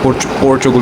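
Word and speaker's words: Portugal: लेकिन अगर ऐसा हुआ तो I might move to पोर्चुगल, if that's how you pronounce it. पुर्तगाल नहीं होता, पोर्चुगल होता है।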